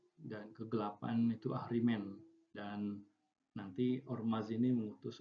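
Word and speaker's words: Ahriman: Tapi ketika dibaca menjadi Ahrimen. Ya, Ahrimen adalah Tuhan kegelapannya orang-orang Majusi ya, Ahrimen.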